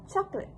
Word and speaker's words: chocolate: Although it is spelled with three syllables, ch the standard pronunciation drops the middle vowel sound the schwa resulting in just two syllable word which is chocolate.